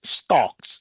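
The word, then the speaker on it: STOKMS: I pronounce it as stocks.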